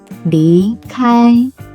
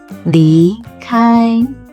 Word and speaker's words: 离开: Listen closely to how I start with a low pitch and rise, then stay in a high pitch for the first tone. 离开, 离开.